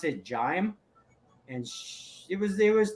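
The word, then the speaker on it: Jaime: Jamie but it was j-a-i-m-e so we always pronounce it jime and it was it was the cause of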